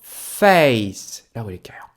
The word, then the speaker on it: face: 어떻게요 그렇죠 그래서 요거는요 face 발음해 주시고요 a 뒤에 C e가 나왔네요 아 a장 모음이구나 맞습니까 그죠 그리고 c는요 아 S 발음 나는구나 해주시면 돼요 그래서 단어가 c2로 끝난다